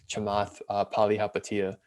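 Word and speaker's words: Chamath Palihapitiya: be wife whitewash but he pronounces his name like chamath palihapatiya which i know is very very not you know the south asian way of saying it but i didn't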